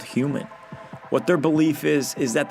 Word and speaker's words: HVMN: Human, which is spelled HVMN.